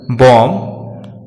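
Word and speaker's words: bomb: बी अक्षर दो case में साइलेंट रहता है, जब बी को वर्ड में एम के बाद रखा जाता है तथा जब बी को टी से पहले रखा जाता है। इन दोनों ही परिस्थितियों में बी साइलेंट रहता है, जैसे डेट, डॉट, डेटा, बॉम्ब, थम।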